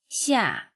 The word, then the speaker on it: 夏: The pronunciation of 夏 is similar to the English word shark, without the cape sound.